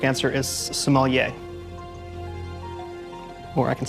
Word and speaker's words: sommelier: restaurants wine steward Mike the correct answer is sommelier or I can spell it that is correct and you pronounced it